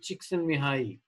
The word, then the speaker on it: Csikszentmihalyi: Wonderful work done by Mihai Csikszentmihalyi. That's how it's pronounced, by the way.